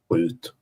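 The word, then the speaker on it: skjut: Uh, hoot. Say it again. Hoot. Hoot. How do you spell that?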